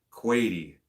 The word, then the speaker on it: Quady: Crazy Quady pronounces Quady like quad or Quady with the A in the long vowel. It's Quady.